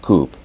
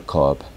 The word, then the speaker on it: cup: Si uno dice Mustard Coupe, no le entenderíamos lo que quiere decir. Pero si dice Mustard Cup, ya más o menos se entiende, ¿right?